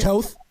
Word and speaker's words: Toth: It looks like he's going to play guard that the Niners brought in, Brett Toth. He's an Eagle guy. Did I pronounce his name right? Toth?